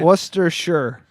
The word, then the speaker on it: Worcestershire: like with an a I say Worcestershire so with it you what's what's two s's what's teacher e two r's probably right Worcester sure luster shirt with like sh you